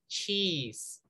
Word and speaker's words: cheese: Se escribe chese, pero vamos a pronunciar cheese.